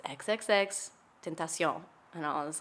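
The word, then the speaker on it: XXXTentacion: name so that you don't ever say his name wrong. That's and I was fair. like, okay. And he said, it's XXX Tentacion. And I was like, oh, okay. Got it. And so anytime somebody would say temptation, I would be like, That's when people pronounce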